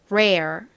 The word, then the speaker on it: rare: 되죠 한국식으로는 이렇게 적지만 L이 아니라과 모음이 합쳐졌기 때문에 그냥 레가 아닌 rare rare 이렇게 발음이납니다 따라해 보세요 rare rare 좋습니다의 의미가 뭐냐면요